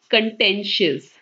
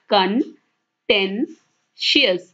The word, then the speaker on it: contentious: So the first word is contentious. Pehla shabd hai contentious. Theek hai, iska jo pronunciation hai aap half of padhke dekh sakte hain. Contentious.